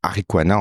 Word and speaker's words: Ariqua: Ouais, c'est Arikwana en fait mon prénom en entier. On a retiré le na, ce qui s'écrit A-R-I-Q-A, qui se prononce Arikwa, qui est on va dire enfant du soleil.